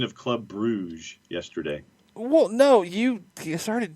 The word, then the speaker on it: Brugge: Most things I'm seeing of people from Belgium are going more in the Brugge or even Brugge, more of like a true German pronunciation as opposed to Bruges.